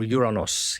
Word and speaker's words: Uranus: So many people pronounce it Uranus, but I think the proper way to pronounce it is Uranus, or Uranos even.